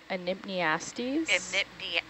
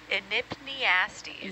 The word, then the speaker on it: Enypniastes: Can you help me pronounce the scientific name for headless chicken monster? Yeah, yeah. Enypniastes. Enypniastes.